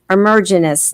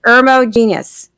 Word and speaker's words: Ermogenous: my guest is emergence no i said it wrong irmo genius that's it there it is he's telling us